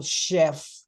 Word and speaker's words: chef: but we pronounce it we pronounce them as sh like for example Chef machine yes okay uh the